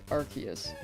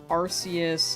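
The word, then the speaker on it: Arceus: Uh the pronunciation was arus and then it changed to Archus because I think it sounded like a naughty British word.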